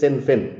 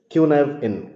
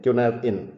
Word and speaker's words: Cynefin: I N that is sinfin. If you go as a English pronunciation it becomes sinfin. But it's a Welsh language and you have to pronounce it as kunav in kunav in.